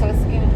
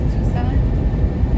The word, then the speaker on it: Tucson: more into the city into sun, I think is how you pronounce it. I thought it was Tuskin. I'm not going to lie. But my husband, I think he said Tucson, Arizona. Tusk.